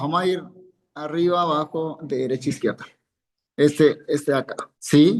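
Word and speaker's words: דֶּרֶךְ: Al final, muy bien, cuando tenemos la Kaf Sofit, por regla ortográfica va a llevar un Sheva, quiciente, un Sheva que no suena. Ortografía. No más. No se pronuncia.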